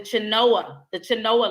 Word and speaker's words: Chenoa: This is a program called the Chinoa Loan. It's spelled Chenoa.